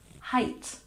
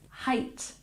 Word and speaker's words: height: and number 10 height don't pronounce it like the number remember this makes the long I sound height height once again height very